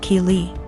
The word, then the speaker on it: Kei: calling my daughter Kelly my daughter's name is key pronounced Kei so after school was